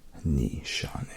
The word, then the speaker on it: Nishane: Nishane, and it is Nishane. That's how they say it. That's how the founder says it.